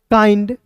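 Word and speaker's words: kind: अंतिम में आई एन डी दिखता है तो उसका उच्चारण आइंड के रूप में करेंगे। एफ का फ आई एन डी फाइंड माइंड काइंड बाइंड टीके जी।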